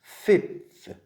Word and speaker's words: fifth: fifth. 다섯 번째예요. 자, fifth 어떻게 정리하면 F-I-F-Th예요. F 무슨 발음?